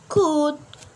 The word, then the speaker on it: could: So letter L, we not pronounce it when letter L comes after consonant letter. For example, like could, should. After L, we have D letters, so we not pronounce the letter L.